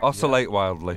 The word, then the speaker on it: Oscillate Wildly: I really love your instrumental song, Oscillate Wildly. Is that how you pronounce it? Oscillate Wildly.